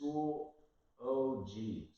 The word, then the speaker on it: Schoology: to pronounce this, but it's really easy just phonetically taking a look at it, or like if you're like me, it's just Schoology, right?